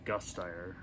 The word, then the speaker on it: Gasteyer: Alan Cumming, Steven Weber, Kristen Campbell, and Anna Gasteyer.